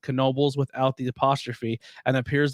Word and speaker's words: Knoebel: by the Knoebel, and the pronunciation is Knoebel. Knoebel. So there you go. Because some people Okay. say Nobles. I'm going to Knoebels. it's that Knoebels. silent K.